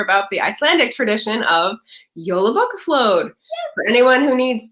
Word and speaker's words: Jolabokaflod: the Icelandic tradition of JOLABOKAFLOD. Yes. For anyone who needs to know how that's pronounced, JOLABOKAFLOD. And that's how we, American English speakers are going to pronounce it.